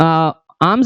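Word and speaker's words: alms: देखो आर्म का मतलब होता है आर्म्स, कई बार बच्चे इसको आर्म्स पढ़ देते हैं, लेकिन इसका प्रोनाउंसिएशन क्या होता है, आर्म्स होता है, एल साइलेंट होता है।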